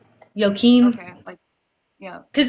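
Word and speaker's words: Joachim: that how it's pronounced it's a j but I'm not sure sure I want to say it's pronounced like a y yoim okay yeah cuz it's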